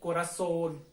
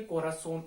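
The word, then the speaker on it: corazón: खत्म हो रहा है, जैसे कोरासोन, ठीक है, कोरासोन, ओ उच्चारण ज्यादा आ रहा है, और वो एन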